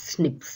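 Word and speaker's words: SNPs: அதாவது single nucleotide polymorphism pronounce as ஸ்னிப்ஸ் அப்படின்னு சொல்கிறாங்க.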